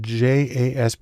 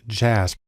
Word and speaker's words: JASP: open source community has developed a program called jasb it's actually pronounced jasp which is sort of an open source version